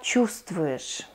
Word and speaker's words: чувствуешь: Как ты себя чувствуешь? We spell чувствуешь, we pronounce чувствуешь.